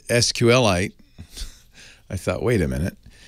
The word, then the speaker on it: SQLite: because i've always said sqlite but then i found an interview with the creator of it and he says it's pronounced like the mineral sqlite you